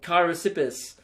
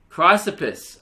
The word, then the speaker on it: Chrysippus: part about that will be you trying to pronounce Keira sippers on the podcast or Kairos ipis Theresa pers Theresa puse have a good one